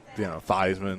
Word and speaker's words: Theismann: Well, I think Joe Theismann is like Thiesman or something like that. But, Theismann. Rhymes with Heisman, yeah.